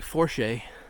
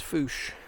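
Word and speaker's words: Fourche: with you here's the bou River looks like forche but it's actually pronounced fos and I was looking for beds and I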